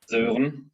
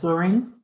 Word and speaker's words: Sören: I mean it's usually native English speakers struggle with it the most because it's the German version of a Danish name, so it has the very flat pronunciation and an umlaut.